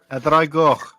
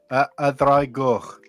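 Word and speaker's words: Y Ddraig Goch: A dragoch. Say that again. A dragoch. I'll type how it's spelled in the chat as well.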